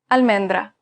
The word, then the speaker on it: almendra: pronounced as its red almendra the word almendra meaning almond is pronounced al men dra it's pronounced exactly the same as it's written almendra the same thing